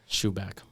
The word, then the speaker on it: Schuback: It's shoe and a back. Schuback.